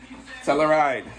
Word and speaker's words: Telluride: So today, it's the Kia Telluride. So I believe that's how it's pronounced.